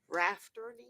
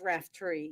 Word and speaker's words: Raftery: I've been pronouncing your name all this time wrong. Rafferty? It's Raftery, yes.